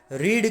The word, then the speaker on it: read: लगाइए, books are नॉट, रीड का V3 क्या आता है, READ ही आता है, लेकिन उसको प्रोनाउंस किया जाता है रेड, books are नॉट रेड